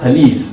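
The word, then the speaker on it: police: यही वर्ड हमारा next word है जिसको ज्यादातर लोग पुलिस कहते हैं, लेकिन ये अगेन इसका सही प्रोनाउंसिएशन नहीं है। इसका सही प्रोनाउंसिएशन है फलीस।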